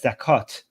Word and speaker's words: zakat: And then what we call it zakat. For some reason, Arab Muslims don't pronounce the t in the end of the these words for some reason.